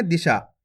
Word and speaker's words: दिशा: तो मिलके बन जाएगा दिशा ए से नहीं पड़ना दशा अगर दिशा खीच के पढ़ोगे तो बड़ी की मात्रा का उच्चारण हो जाएगा कैसे पढ़ेंगे दिशा जल्दी से उच्चारण कर देंगे दिशा क्लियर है अब चलिए